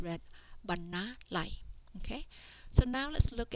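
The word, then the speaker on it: បណ្ណាល័យ: This word is read banalai.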